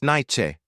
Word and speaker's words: Nietzsche: "Thomas Nietzsche," the man replied, accepting the coffee gratefully. His voice carried a slight accent that Jacob couldn't place, and he pronounced his surname like Nye-chi.